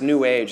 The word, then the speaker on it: new age: This is a merging of old style astrology with some new age claptrap stuff. And a friend of mine says new age is actually, you're supposed to pronounce it as if it rhymes with sewage.